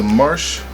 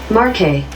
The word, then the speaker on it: Marche: So here's the American pronunciation. Marque. Marque. Marque? I would have never ever said it like that. Okay, and then here's the British pronunciation. Marche. Marche. Okay, well, honestly, I'm American, but I'm going to go with the British pronunciation on that one, because what the heck, I'm not going to call it Marque.